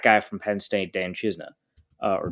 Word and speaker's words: Chisena: Westbrook and the track guy from Penn State, Dan Chisna, or Chisena, I guess we've been told is how it's pronounced.